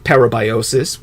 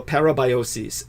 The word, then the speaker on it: parabiosis: Silicon Valley and uh their method of vampirism parabiosis would be the more technical term if you